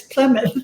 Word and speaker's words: Plymouth: a minute why that's ply as in plywood and that's mouth and mouth and it's like yeah but when it's together it's plymouth and i said oh